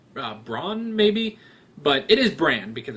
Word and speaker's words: Bran: wrote down bran which you guys told me it's pronounced brand because it's short for Brandon but I didn't but